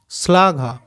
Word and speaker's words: শ্লাঘা: আচ্ছা এটা দেখো তালবস্বয়ে লয়ে আকার ঘয়ে আকার, তাহলে তালবস্বয়ে লয়েটা একসাথে উচ্চারণ করে নেবো স্লা, ঘয়াকার ঘা, স্লা ঘা। এটা দেখো রশ্মি, র তালবস্বয়ে ময়ে রস্বই, রশ্মি। তাহলে দেখো আরেকবার বলে দিই, বর্ষা, দৃশ্য, নিশ্চয়, প্রশ্ন, শ্লাঘা আর রশ্মি।